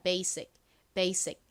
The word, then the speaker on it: basic: 사실 실제 원어 발음으로는요. 여기서 S가 지읒 발음이 아니라 시옷 소리가 나요. 그래서 베이직이 아니라 basic 이렇게 발음을 합니다.